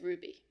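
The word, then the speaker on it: RWBY: I sort of half follow this show called Ruby which is a an animated show from Rooster Teeth um is that how you pronounce it yes Ruby I've just been thinking in my head all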